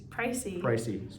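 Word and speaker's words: précis: The next map you need to be aware of is spelt like this, and it is pronounced Pracy.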